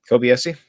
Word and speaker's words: Kobayashi: This post that you sent from can you pronounce their name for me real quick? Kobayashi.